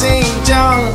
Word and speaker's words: Xinjiang: Please say my name, it is pronounced Xinjiang.